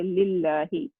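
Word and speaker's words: لله: And this alif, we are not going to pronounce when something come before that. So we're going to say lillahi, alhamdulillahi.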